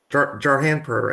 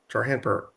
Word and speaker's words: Jarhanpur: I The, missed pronouncing it right. Jarhanpur. I missed the first R. Jarhanpur.